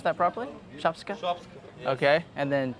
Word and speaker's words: shopska: Do I pronounce that properly? Shopska?